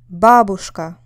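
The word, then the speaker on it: бабушка: on the second syllable Babushka here the stress is on the first syllable can you hear it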